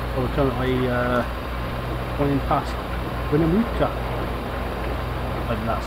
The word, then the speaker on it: Winnemucca: Well, we're currently running past Winnemucca, and that's how you say it. Winnemucca, Winnebago, Winnelot.